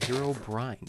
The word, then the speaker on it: Herobrine: Herobrine.